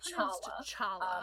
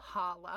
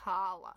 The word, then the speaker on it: challah: So, it's not it's not ch-challah. Um, the reason that we say reason you have the CH in English is because they were trying to figure out a way to say hey, it's not a soft H sound. Halla. It's actually a guttural H sound.